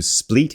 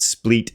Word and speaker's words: Split: We're going from Zadar over here to Split. And apparently I did check. It is pronounced Split, not Split.